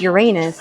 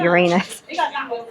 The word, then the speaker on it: Uranus: And it's pronounced Uranus, not Uranus. It's funny, my GPS called it Uranus.